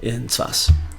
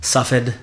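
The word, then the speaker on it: צפת: Rav of Breslov in Tzfas. Tzfas, that's Tzfat. Yeah? Tzfat. Tzfas is in Yiddish. Tzfas. It's more Yiddish way. It's just in Ashkenazi Hebrew. Tzfas, Tzfat, Safed, however you want to pronounce it, right?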